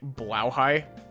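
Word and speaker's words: Blåhaj: if I'm not mistaken it's pronounced as like blow High because it's Swedish I want to see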